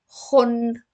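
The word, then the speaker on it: خٌ: So it's all pronounced as Khun. Khun.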